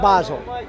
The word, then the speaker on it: Basel: So is it Terp Basel? Basil? I pronounce it Terp Basel.